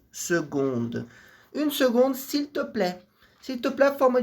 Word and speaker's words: seconde: Une seconda, lembrando que seconda palavra se escreve com C apar de som de G. Se une seconde s'il te plaît.